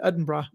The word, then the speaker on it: Edinburgh: Um, dude, we we're taking there's a train from London to Edinburgh and it's I know I looked it up. That's how they say it. Edinburgh.